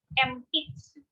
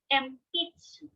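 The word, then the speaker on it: 鉛筆: Next, pencil in Japanese is empitsu. Again, empitsu. Even though it is written as empitsu, we should read it and pronounce it as empitsu, pencil.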